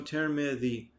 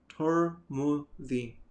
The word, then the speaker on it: Tirmidhi: Okay, so Tirmidhi. And it can also be pronounced with a dhamma on them both. A dhamma on the ta and a dhamma on the mim. So Turmudhi.